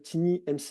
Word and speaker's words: TinyMCE: Vous avez un éditeur qui maintenant est utilisé de base qui s'appelle TinyMCE. Alors je le prononce à la française, hein, mais c'est un outil en fait qui est l'éditeur en fait de texte.